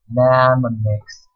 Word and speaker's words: mnemonics: Mnemonics. Initial M is silent.